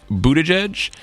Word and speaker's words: Buttigieg: South Bend Indiana Pete Budaj and the chair of the South Carolina Democratic Party Jamie Harrison I'm very proud that I just pronounced mayor Pete's name correctly did he'll be mayor